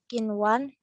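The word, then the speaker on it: قنوان: Dan di dalam hukum ini hanya ada 4 kata, yaitu kinwan, sinwan, bunyan, dan dunya. Cara membacanya adalah melafalkan huruf nun sesuai dengan makhraj atau sifatnya.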